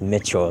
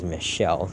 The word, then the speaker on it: Michelle: there saying all no it's not pronounced Mitchell Michelle just have the look